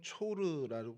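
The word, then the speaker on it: צור: 두로는 히브리어로는 초르라고 발음이 되고요. 헬라어로 튀로스라고 발음이 돼서 이 튀로스 발음이 지금 현재 레바논에 있는 티레란 도시의 이제 그 이름으로 이렇게 발전이 되게 됐습니다.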